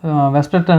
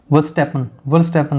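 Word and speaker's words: Verstappen: ये सारे ही इस अकेले जो मैक्स वेस्टर्टन है इन्होंने जीता है, ठीक है। वर्स्टैपन नाम है इनका, वही प्रोनाउंसिएशन बहुत गड़बड़ हो जाती है बोलने में।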